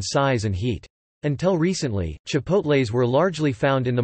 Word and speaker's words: chipotle: A chipotle, kipotle, Spanish, tipotle, or chilpotle, which comes from the Nahuatl word chilpotle, Nahuatl pronunciation, t-i-l po court, I, meaning smoked chili, is a smoked dried jalapeño.